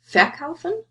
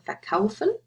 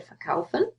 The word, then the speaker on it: verkaufen: Again, think about where's the stress. Do you say verkaufen or verkaufen? You say verkaufen, so inseparable.